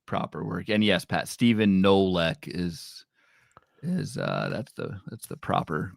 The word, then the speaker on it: Stephen Kolek: And yes, Pat, Stephen Nolek is that's the proper pronunciation of that name.